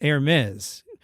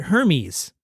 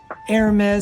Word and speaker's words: Hermès: Air Mez is pronounced Air Mez, sort of like I think you're going to say air mattress.